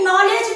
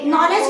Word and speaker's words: knowledge: अच्छा, एक नॉलेज भी होता है ना, नॉलेज में भी KNOWLEDGE, नॉलेज में भी के साइलेंट कर दिया है ना।